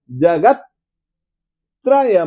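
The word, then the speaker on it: जगत्त्रय: बोलिए निर्ध कष्ण जगत जगत त आधा है ना तो आधे त के साथ में आप स्वर मत जोड़ो जगत त्रय मदम प्रकट करो ई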